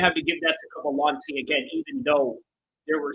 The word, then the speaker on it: Cavalcanti: Cavalcanti, sorry, that's the proper way to pronounce her name.